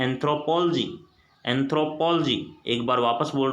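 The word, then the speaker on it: anthropology: लेकिन इसको बिल्कुल आप लोग एंथ्रोपोलॉजी ना पढ़िए। ये जो वर्ड है अपना, इसको एंथ्रोपोलॉजी मत पढ़ना। इसका जो सही प्रोनाउंसिएशन है वो होता है एंथ्रोपोलॉजी।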